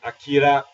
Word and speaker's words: Akira: Well, Akira is not the proper way to pronounce the name. Akira is the more proper way to pronounce it.